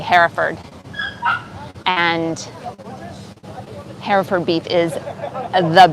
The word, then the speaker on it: Hereford: hereford beef burgers and if you are american you would pronounce that hereford but here in england we say hereford and hereford beef is